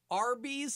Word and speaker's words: Arby's: Arby's stands for Arby's?